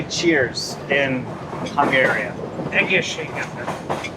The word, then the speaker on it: Egészségedre: Egészségedre. Egészségedre. Egészségedre. Egészségedre. Egészségedre. Egészségedre. Egészségedre.